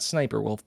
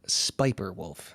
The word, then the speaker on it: Spiper Wolf: Not Sniper Wolf, but Spiper Wolf. And I'm glad I pronounced that one correctly.